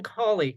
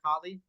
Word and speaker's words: Cauley: I'm sorry, did I pronounce that right, Cauley? Yeah, Cauley.